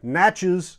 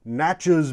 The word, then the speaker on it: Natchez: It's available over at Natchez Shooter Supply, or I'm sorry, Natchez Shooter Supply. Natchez Shooter Supply is located in Natchez, Mississippi. It rhymes with matches.